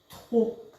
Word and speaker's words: trop: bon c'est trop bon trop on prononce pas loupé c'est juste trop comme ça trop en fait